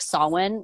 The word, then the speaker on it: Samhain: holiday in like the witch community it's like sawwin which um it's spelled people pronounce it wrong it's like samhain